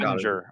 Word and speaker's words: Oettinger: Is that how you pronounce his last name? Oettinger.